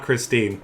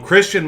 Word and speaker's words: Christine: name as how it looks like it's actually pronounced. His name's not Christine. I thought that for the longest time when I first heard of him years ago. But Christian Michael for the Dallas Cowboys.